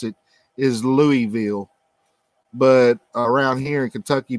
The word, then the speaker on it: Louisville: it that's actually the way you're supposed to pronounce it is louisville but around here in kentucky people say louisville yep louisville or louisville this is yes lee